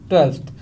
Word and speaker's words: twelfth: यहाँ पे ध्यान रखना हल्का सा F का साउंड आएगा, यहाँ पे आप वो वाली स्पेलिंग मत लिख देना TWELTH, वो स्पेलिंग आपकी गलत होती है। ओके, तो यहाँ पे हमें क्या लिखना है? TWELFTH, 12th, हल्का सा F का साउंड भी आना चाहिए। 13वें को हम बोलेंगे 13th, THIRTEENTH, 13th।